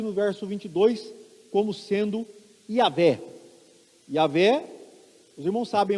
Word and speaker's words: Yavé: Então, Yavé é a pronúncia possivelmente mais próxima. Outros acreditam que fosse Jeová, ou Jeová, ou Javé, mas o que importa